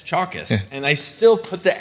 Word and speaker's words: Chalkias: so he corrected me it's chalk like a chalkboard s chalkis and I still put